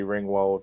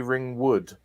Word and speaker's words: Ringwald: to know about molly ringwald and um gerard i couldn't tell how he had mispronounced molly ringwald i think he said molly ringwood i think is what